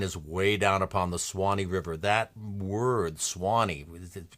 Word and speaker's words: Swanee: Originally, it was going to be the Petey River in Florida, but then he settled on, there's a river, S-U-W-A-N-E-E, 3 syllables, Suwannee, became Swanee, 2 syllables.